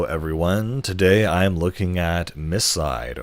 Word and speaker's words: MiSide: today I'm looking at Miss side or as I think it should be pronounced my side so uh this is